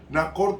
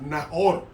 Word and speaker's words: Nahor: Nacor tenía problemas con el habla. Nacor en hebreo se pronuncia como J, Nahor.